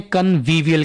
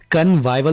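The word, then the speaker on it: convivial: फसिशियस फसिशियस गुस्से से घूरना ग्लावर ग्लावर जिंदा दिल को इंग्लिश में कन्वीविवयल कहते हैं। इसको आपने कनवाइवल नहीं बोलना। कन्वविवय कन्वविवय इंकार करना।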